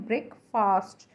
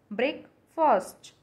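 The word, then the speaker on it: breakfast: Next word है ब्रेकफास्ट, हम इसे बोलते हैं ब्रेकफास्ट, इट्स नॉट ब्रेकफास्ट, इट्स ब्रेकफर्स्ट, इट्स ब्रेकफर्स्ट।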